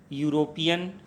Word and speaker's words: European: लेकिन यूरोपियन, जो भले ही EUROPEAN के रूप में लिखा जाता है, लेकिन उसका उच्चारण हिंदी के व्यंजन से मिल रहा है, अतः इसके पहले